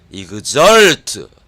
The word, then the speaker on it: exult: 여기 보면은 EXULT라고 스펠링이 써져 있습니다만은 이 발음 안에는 S가 들어가 있습니다. 이그절트 SULT처럼 들리잖아요. 그래서 밖으로 팍 튀다.